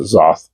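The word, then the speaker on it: Xoth: It is the band Zoth, or Zoth. I pronounce it Zoth, but I have 2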